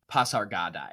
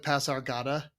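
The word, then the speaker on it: Pasargadae: my belt and like if you actually look at the accent marks on the Greek word it should be pasargad yeah I don't know why he doesn't pronounce it with an i that's just strange just calls it Pasar Gada and you're like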